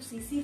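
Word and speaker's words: tsetse: वो सीसी फ्लाई जो लिखा है मैंने वहां पे, उसके प्रोनाउंसिएशन में टी साइलेंट होता है, ठीक है।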